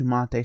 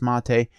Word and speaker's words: MATE: address the whole pronunciation for me it's mate supposedly that's how you pronounce it but anyways that is